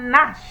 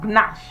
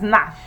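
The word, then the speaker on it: gnash: six we have Rigo number seven we have Nash and not gash so there's nothing like gashing of teeth it is Nash number eight we have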